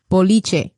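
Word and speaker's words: boliche: easy recipe for and a Cuban version called biche you want to spell it out b o l b b o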